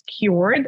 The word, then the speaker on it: kyoord: It's kyoord, and it's spelled K-Y-O-O-R-D, cool. Which is the phonetic spelling of the word kyoord.